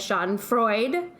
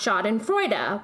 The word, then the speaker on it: Schadenfreude: of the word because paula said sean freud but it's actually pronounced shot in freuda with a soft duh at the end you'll have to excuse